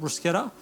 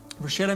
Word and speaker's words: bruschetta: Now, bruschetta, and I'm pretty sure that that is the correct Italian pronunciation of it, bruschetta.